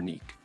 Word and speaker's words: Nike: The name of this goddess, by the way, can be pronounced as Nike or Neek, which in English, you